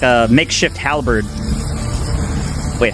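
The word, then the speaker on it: halberd: Halbird.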